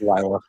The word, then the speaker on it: Lila: It's Lila.